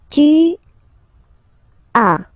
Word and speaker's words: tu as: Okay, second one, tu as. Okay, as usual in French, final S is not pronounced. Tu as.